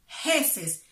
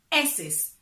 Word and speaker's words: heces: Just watch the H, I don't say heces, because remember, in Spanish, the H is silent, so we say heces, heces fecales.